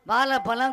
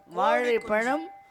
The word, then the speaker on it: வாழைப்பழம்: தமிழ் வந்து எப்படி உச்சரிக்கணும் தமிழ் அப்பா சொல்ல முடியும் வாழைப்பழம் கோழி குஞ்சுன்னு சொல்லக்கூடாது வாழைப்பழம் கோழி குஞ்சு அப்படி சொல்லணும் அப்படிதான் பேசணுமே